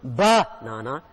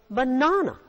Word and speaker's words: banana: It's not banana, it's banana. The stress is on na, banana.